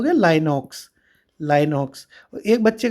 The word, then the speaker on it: LynxOS: अब ये real time में जो बच्चे हुए वो हुए लाइनॉक्स और RT लिनक्स। कौन कौन से? लाइनॉक्स, स्पेलिंग है LYNXOS, ठीक है, लाइनॉक्स ऐसे याद रखना।